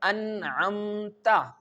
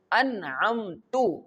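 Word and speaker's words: أنعمت: If fatha is present on the ta, we can pronounce this letter like an'amta. Okay, an'amta. Remember that an'amta means you gave favor. Here the letter, the word you mentioned Allah Almighty. But if we recite an'amtu, the ta leads with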